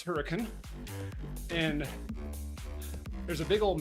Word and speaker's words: Hurricane: yeah, the locals pronounce Hurricane, and there's a big old mesa, Hurricane Mesa, right next to the town.